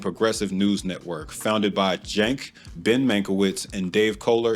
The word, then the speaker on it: Cenk: This one's about the network itself, specifically their leaders, Cenk, that's how the founder of TYT, Cenk pronounces his name, by the way, and the self-labeled politically homeless Ana Kasparian.